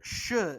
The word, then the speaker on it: X: Actually, if you go by the Chinese pronunciation, X makes a sh sound.